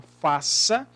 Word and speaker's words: faça: São 4 letras, constituído também por 4 fonemas, porém, na pronúncia da palavra faça, a gente pronuncia o F, a gente pronuncia o A, o C cedilha é pronunciado com o som de S, por isso foneticamente, vamos